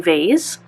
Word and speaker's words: vase: it so 77 is a porcelain vase or vas depending on how you pronounce it okay so this is